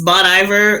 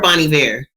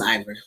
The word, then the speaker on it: Bon Iver: I want you to know that Iver is spelled with an H, so that's why I thought it was Ivor.